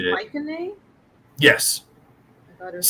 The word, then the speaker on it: Mycenae: turns into a war machine, and nobody wants to fuck with Mycenae. It's pronounced And, Mycenae? Yes, I thought it was C's are like hard K's in ancient Greek.